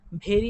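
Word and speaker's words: very: ছিলাম এখানে ভেরি উচ্চারণটা ভেরি আমরা পড়ি ভেরি কিন্তু কোন উচ্চারণ না উচ্চারণটা ভেরি ভেরি ইংরেজির ভ উচ্চারণটা বাংলা ভয়ের মত না বাংলা ভয়ে আমাদের উভয়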